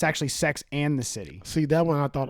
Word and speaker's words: Sex and the City: this wow cause like just like hearing people say sex in the city once i finally said i'm on tv like oh it's sex and the city and i always notice i was saying it wrong because i was listening